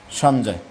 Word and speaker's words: সঞ্জয়: আর সঞ্জয়, এই যুক্ত বর্ণটা হচ্ছে নিয় প্লাস বর্গীয় জ, সঞ্জয়।